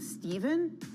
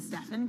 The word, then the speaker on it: Stephen: Apparently, like back when this deal was first being negotiated, Nike lost out because they mispronounced his name. A representative did and called him Steven instead of Stephen Curry.